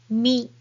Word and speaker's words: み: Second one is mi, mi, mi.